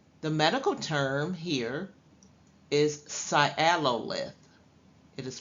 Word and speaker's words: sialolith: you have sialo the medical term here is sialolith it is pronounced sialolith and that means it's a calculus or stone